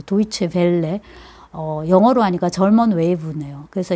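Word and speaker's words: Deutsche Welle: DW였는데 찾아보니까 이게 도이체 벨레라고 읽어야 되죠. 도이체 벨레.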